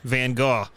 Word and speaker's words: Van Gogh: If you're talking about the artist, you do Van Gogh. That's how it's pronounced, actually.